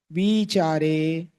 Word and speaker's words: विचारे: सवितर्क विचारे पूर्वे ए बहुत से लोग इसके उच्चारण करने में विचार बोल देते हैं। जो सामान्य विचार शब्द होता है उसमें छोटी मात्रा होती है। पर यहां पर सूत्रकार ने बड़ी मात्रा दी है।